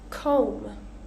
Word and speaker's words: comb: So we're not going to pronounce that B. Climb, climbing. Comb, comb.